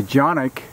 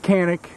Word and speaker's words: Canik: The Jonic 55 TP9 SA. All right, I've been calling it Canic.